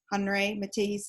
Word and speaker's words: Henri Matisse: Okay, and I know I told you that we would be going over Henri Matisse, or Henri Matisse is how some people pronounce it.